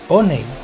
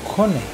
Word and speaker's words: Honey: Es importante que sepas que los pobladores pronuncian Honey y no Honey, como la palabra en inglés.